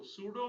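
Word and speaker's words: pseudo: class है ये सूडो class कहलाती है सूडो सूडो mean P एस ई यू डी ओ सूडो इस स्पेलिंग है और इसके मतलब होता है फेक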